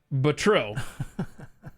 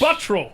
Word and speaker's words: Buttrill: Now, I could pronounce it Buttrill, but that's how Glenn Beck pronounces it, correct? Repeatedly. Let's get this straight. Oh my gosh. It's Buttrill, right? How is that hard?